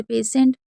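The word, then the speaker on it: patient: जैसे पेसेंट उसमें आप देख रहे हैं आई इ एन टी है। ठीक है? तो यहां पर भी हम टी को श पढ़ रहे हैं।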